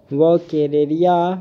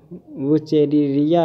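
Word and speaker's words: Wuchereria: फिर है the larva of वो केरेरिया बैंक्रॉप्टी इज, तो इसका हो जाएगा माइक्रोफाइलेरी जो लार्वा होते हैं ये वुचेरिया या वुकेरेरिया बैंक्रॉप्टी, तो इसको दोनों भी उच्चारण कर सकते हैं।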